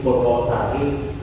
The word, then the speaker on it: Purwosari: namanya ya, salah ketik Jadi tulisannya Purwasari seperti itu. Nah mungkin di sana yang mendaftar itu orang Solo Jogja mungkin dipakai, jadi dibacanya O tetapi tulisannya A.